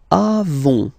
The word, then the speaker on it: avons: Then nous avons, final S not pronounced. Avons.